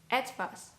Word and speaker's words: etwas: It can also be pronounced as Ä, as in echt or etwas, for example.